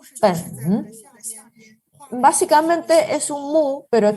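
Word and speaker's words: 本: Entonces, por ejemplo, este carácter se pronuncia pen, pen.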